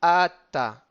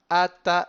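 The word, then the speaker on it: אתה: On peut ralentir un tout petit peu sur le tav de ta hanunim, et ensuite ata, ata et milerael. Donc on traînera sur le aleph de ata.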